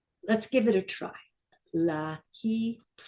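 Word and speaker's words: להתראות: Lahitraot. Say it again. Lahitraot. Say it again. Lahitraot.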